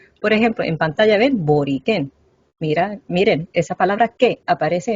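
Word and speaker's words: Borikén: Entonces pensamos que la pronunciación original era boriquén acá arriba y no boriquén en la lengua.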